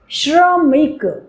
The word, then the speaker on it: श्रम: र श श्रवण आश्रम श्रमिक आप देखेंगे आप ध्यान देंगे कि आप उसमें हल्का सा र का उच्चारण भी हो रहा है।